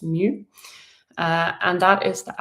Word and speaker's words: mu: That's mu. you pronounce mu uh and that is